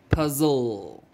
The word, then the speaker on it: puzzle: puzzle no l e it shows us the e is silent we just close on the l sound and we say puzzle kill that e crossed